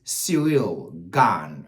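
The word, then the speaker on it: Ciryl Gane: to seil now no let me take my time to pronounce it properly for you guys all your Americans out there lazy can't pronounce the name the man's name properly his name name is serial Gan okay great saying gone serial Gan serial Gan versus Alexander VAV those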